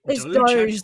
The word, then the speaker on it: DOGE: Is it Dogi? Is it how do you doge like after the meme because Haha, we're so funny.